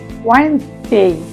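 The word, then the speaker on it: Wednesday: আমার মনে আছে অনেকেই আমরা এরকম ভুল করে থাকি, আমিও বলতাম একসময়, কিন্তু সঠিক হবে ওয়েডনেসডে। একটু খেয়াল করলে দেখবেন আমরা এখানে ডি উচ্চারণ করছি না, তো এখানে কি হচ্ছে ওয়েডনেসডে।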